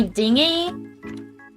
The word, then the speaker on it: dinghy: it was, but basically he called it my dinghy. Like it's spelled like this. Dinghy. And this whole time, like for well over a month, I thought it was just a funny way to say the word thingy.